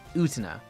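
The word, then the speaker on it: Utena: And Utina is spelled U T E N A. Utina.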